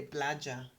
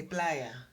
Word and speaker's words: playa: thing with double l if you pronounce it too long or if you correctly pronounce it you're gonna sound colombian and not honduras if you say plaja and that's my own